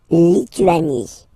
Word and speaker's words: Lituanie: La Lituanie. Remember in French, sorry, H doesn't exist, okay, so you don't pronounce it, and it's Lituanie.